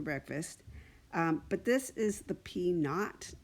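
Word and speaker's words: p₀: like the not for no and when that's pronounced out loud is called P not is what you'll commonly heard it called it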